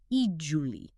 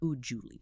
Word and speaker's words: usually: The key is that first U. It's a long sound, like in use or music, so it's E-Julie, not U-Julie.